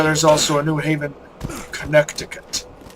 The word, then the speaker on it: Connecticut: also a New Haven Connecticut why don't we say Connecticut it's spelled connected I didn't have